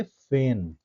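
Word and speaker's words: feign: फेन एफ इ आई जी एन G silent हो जाएगा। इसको हम प्रोनाउंस करेंगे फेन।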